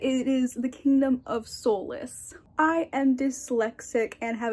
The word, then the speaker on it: Solis: While I was editing, I realized that I mispronounced the Kingdom of Solace. I was pronouncing it Souls, but it is the Kingdom of Solace.